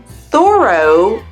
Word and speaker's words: thorough: The first pronunciation is like O, just like in the word no. And this is how we pronounce words like although, thorough, and dough.